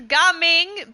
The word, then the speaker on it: Gaming: what brings you here it's it's guming but yes it's it's spelled gaming he is an epic